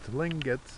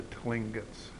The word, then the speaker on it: Tlingit: The Tlingits, I believe it's pronounced, have 5 clans, and they each have created a totem here.